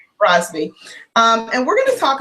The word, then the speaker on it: Brosbe: Yep, that's right, Brosbe. Brosbe.